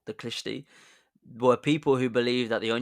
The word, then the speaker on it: Khlysty: But instead of finding God, he found a dodgy religious sect called the Klishti. The Klishti. That's spelled Khlysty. The Klishti.